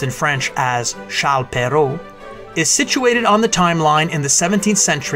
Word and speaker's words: Charles Perrault: Charlotte pero known to his English readers as Charles Perrault this edition of timeline presents Charles Perrault